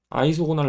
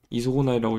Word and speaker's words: isogonal: 아이소고날 라인인데 저는 이소고날이라고 읽습니다.